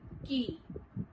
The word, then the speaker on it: quay: Quay is not pronounced as quay, but rather it is pronounced as key.